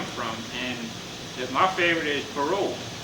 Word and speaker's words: parole: But in French, how do you say I give you my word? Parole. Parole. The man was out on his word. It's spelled the same way, parole, parole.